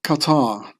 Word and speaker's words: Qatar: The name Qatar is being pronounced as Qatar in Arabic, which suspiciously sounds like Khazar, as in Khazaria.